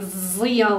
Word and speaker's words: Szia: And then I was like, okay, but it's an SZ, why isn't it like Szia or something? So it helped me learn the pronunciation to talk it out with my friend who was teaching me. And then I learned that SZ is an S and an S is an Esh.